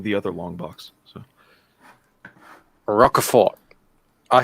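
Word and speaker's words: Rocafort: other long box so rockefort i say it's you don't pronounce the t he's from puerto rico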